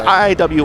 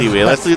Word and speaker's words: iiwii: I've heard that the name is supposed to be pronounced iiwii before. It's iiwii. I think it's pronounced iiwii. That's what I saw in chat yesterday.